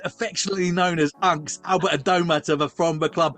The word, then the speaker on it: Adomah: Albert, I saw one of your interviews in preparing for this that saying Adom is a very British way of pronouncing your surname, isn't it? It's like Adma, isn't it? Adma.